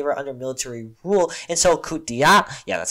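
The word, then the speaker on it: coup d'état: And after their independence in 1960, they were under military rule until coup d'etat, yeah, that's how you say it, which is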